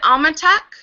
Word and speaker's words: Almatok: different hello hello is it Alma tuk is that how you pronounce it yes hello it's nice to